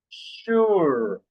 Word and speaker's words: sure: She, seashells, seashore, shells, she, seashells, sure, sure. We don't have here the SH, but here, this S letter, we pronounce like sh, no?